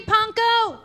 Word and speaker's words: Pankow: It's Panka with a co, not Panka with a cow, cause Panka with a cow goes moo, not oh, it's co instead of cow. Rhymes with bronco, simple as can be, see Panko!